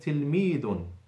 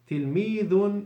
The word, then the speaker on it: تلميذ: وهي تلميذ. تلميذ is with the tongue out when pronouncing the last letter, the dal.